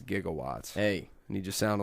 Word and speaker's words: gigawatts: you seen there's a he said jigawatts jigawatts gigawatts through the whole movie it's like 1.21 gigawatts but it's you know it's gigawatts but have you seen this